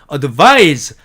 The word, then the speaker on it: advise: A번 advice, 이렇게 철자한 말은 advice 이렇게 발음하고 명사로서 충고라는 뜻이고요. advise 이렇게 se로 끝나면요, advise라고 읽고 동사로서 충고하다라는 뜻으로 쓰인 말이 됩니다.